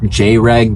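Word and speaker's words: Jreg: couple jabs at Dreg, who will be pronounced J-Reg because you don't actually watch him.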